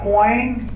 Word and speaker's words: Coyne: out three things and am I pronouncing it correct is it Dr coin yep okay three things number